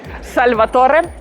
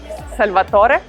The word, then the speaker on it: Salvatore: me can i ask you something how to pronounce the brand uh italian way salvatore salvatore another interesting italian brand right behind me super